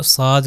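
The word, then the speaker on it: ص: आखिरी वाला साद है। अरबी में साद कहते हैं। तो इसको साद ही करके प्रोनाउंस किया जाएगा।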